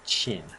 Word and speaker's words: Qin: And it's pronounced Qin, the Qin government.